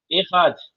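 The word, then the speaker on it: אחד: Como é que pronuncia isso aqui, ó? Errad.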